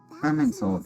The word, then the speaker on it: Irminsul: Irminsul, that's how you pronounce it.